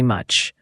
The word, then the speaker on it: much: Second, very much. The v sound is important. It's a buzzing sound, unlike the w sound. And much has a short u sound like in cup.